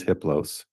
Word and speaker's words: Hippos: entity his name is hippos the H is silent the other three are